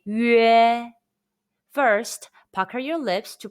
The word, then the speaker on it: 约: it, the pronunciation is 约. It's a combination of the Mandarin Chinese yu and e sounds. Say 约.